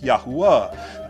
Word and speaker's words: Yahuah: Wow, Hey, Yod, Hey, Wow, Hey, which is pronounced Yahuah.